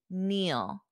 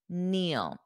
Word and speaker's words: kneel: is to Neil Neil notice that pronunciation the K is silent when we have KN n the K is silent repeat after me kneel kneel Joe was kneeling when